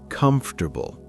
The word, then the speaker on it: comfortable: Listeners, pause now and practice comfortable. Try to say it naturally, not pronouncing every letter.